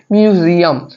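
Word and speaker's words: museum: এছাড়া এর উচ্চারণটিও ভাওয়েলের মতো হচ্ছে না, এর উচ্চারণটি হচ্ছে মিউজিয়াম, এটি কনসোনেন্টের মতোই হচ্ছে, সেই কারণে এর সঠিক অ্যান্সারটি হচ্ছে এ।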